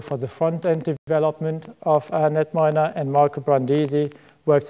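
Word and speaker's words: KnetMiner: a software tool called netminer it stands for knowledge network minor the K is silent and it's a web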